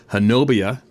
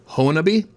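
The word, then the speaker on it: Honobia: Retired Oklahoma State Forestry Service worker Harold Yates, a one-time Hanobia Honabi. Oh, pronounced Honabi.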